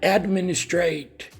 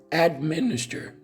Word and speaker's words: administer: Most people from Brazil, they say determine and administrate, and that's wrong, right? It's not determine, it's not administrate. The correct pronunciation is determine for the first word. And for the second word is administer, right?